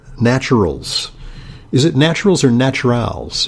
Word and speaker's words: Naturals: Is it naturals or naturals? It's just naturals. Okay, great. It's a French spelling. It's spelled with an ES on the end.